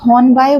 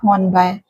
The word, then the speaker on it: Hornby: अच्छा, कुछ लोग हॉर्नबाय बोलते हैं, तो एज per Oxford text the pronunciation is नॉट हॉर्नबाय, इट इज हॉर्नबी।